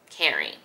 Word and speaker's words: Kering: the picture Gucci has sold off to caring right that's how you pronounce it caring back in the 90s